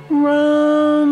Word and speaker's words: RAM: a high tone M and RAM is the one syllable Sanskrit mantra round rum home rum so